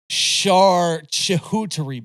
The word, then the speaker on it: charcuterie: I believe it is, but you also mispronounced it. It's a charcuterie board.